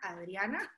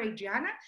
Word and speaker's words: Adriana: is adriana aliana this is me pronouncing fully latina adriana or adriana so i've been working